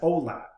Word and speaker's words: OLAP: and ol8b the lat the the latter is sometimes sometimes uh pronounced as olap so oltp stands for